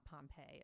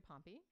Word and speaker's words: Pompey: he married her to his frenemy a man named pompey yeah uh and pompey is spelled p-o-m-p-e-y it's not pompeii it's yeah and pompey